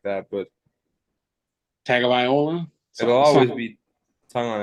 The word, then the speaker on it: Tagovailoa: Tagovailoa or Tagovailoa. I'm never gonna say it like that, but Tagovailoa.